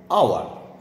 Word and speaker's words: hour: অতএব উচ্চারণটা যখন ও দিয়ে, এইচ দিয়ে কিন্তু হচ্ছে না, ও দিয়ে হচ্ছে।